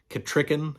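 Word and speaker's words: Kettricken: just a personal preference I like the way that uh Paul baimer in the initial farseer series pronounces things like Burridge in ketricken and uh I maybe LinkedIn pronounces them correctly or the preferred way but he says burrick and katricken and I I don't know I don't like that but I like his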